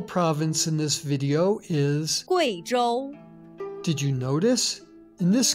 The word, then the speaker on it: Guizhou: In the name of this province and its capital, the U plus I is pronounced wei, not we. Listen. Guizhou, Guiyang.